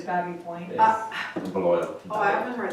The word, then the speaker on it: Baby Point: It's just like Baby Point is Babby Point.